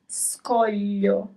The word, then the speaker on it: scoglio: So the right pronunciation is scoglio. Scoglio. So here you have both the group of letters GLI and the group of letters SCO that we have focused on in the previous lesson.